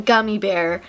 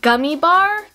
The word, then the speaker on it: Gummibär: animated music video um of a singing green gummy bear who has become you know the titular character known as gummy bar but actually since researching this it's pronounced gummy